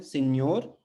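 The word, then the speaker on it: senhor: इस्तेमाल कर सकते हैं सिन्योर। तो ये NH जो है दोनों मिलकर न्य, है ना, न्य का उच्चारण करते हैं।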